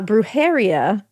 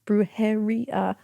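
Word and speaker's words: brujería: Uh, Bruharia. Bruharia. Oh, roll that R girly.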